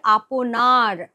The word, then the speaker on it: আপনার: এখানে উচ্চারণটা করতে হবে আপনার। মানে নিজের আমার দেশের থেকে বড়